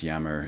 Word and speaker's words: Jammer: And even there was one pretty in-depth scholarly book on Einstein's religion by Max, I think it's Max Jammer is how you pronounce his name, who was a physicist and wrote a book called Einstein and Religion.